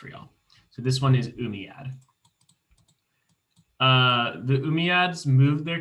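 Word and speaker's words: Umayyad: in here they're gonna be really hard to pronounce real so this one is umiyad uh the umiads moved their capital from medina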